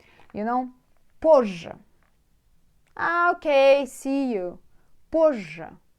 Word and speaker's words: позже: Maybe like when you pronounce it like double J. Позже. Позже. But you should know that it's two different letters there. Z, J.